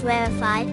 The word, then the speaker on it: rarefied: To correctly pronounce rarefied, accent the first syllable, rarefied.